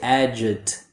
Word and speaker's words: adjective: First, they pronounce it too perfectly. They pronounce every letter that's written. They say adjective. A native speaker doesn't pronounce that C or that K sound. So instead of adject, we just say adjective. The second is that a lot of students don't use the schwa. So to pronounce it correctly, you remove the K sound and use a schwa like this. Adjective.